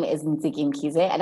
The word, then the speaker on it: Ntsiki: So Ntsiki is said like Nikki, just with the T-S. So Nikki Ntsiki, and that is how you say my name.